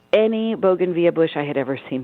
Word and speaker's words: bougainvillea: And all of a sudden I turned and saw this bougainvillea, and some pronounce it bougainvillea, I say bougainvillea.